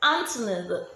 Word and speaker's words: Anthony: Anthony, the TH in Anthony sounds T.